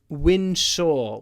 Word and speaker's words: ensure: And remember, pronunciation, to winsure with a w. To ensure.